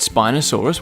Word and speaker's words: Spinosaurus: Spinosaurus.